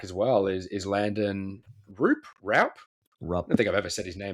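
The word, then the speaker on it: Roupp: We've got It's pronounced Roop. Oh, okay. Landon Roop.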